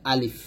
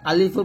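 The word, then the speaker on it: ألف: তো প্রথম কাজ হচ্ছে সামনের উপরের দাঁত নিচে ঠোঁটের পেটে লাগবে, তারপর বাতাস চালু, মুখে হাসির ভাব থাকবে, উচ্চারণ করতে হবে আলিফটা। এবং আরো বিষয় হচ্ছে আলিফটা তাড়াতাড়ি উচ্চারণ করতে হবে, টান দেওয়া যাবে না।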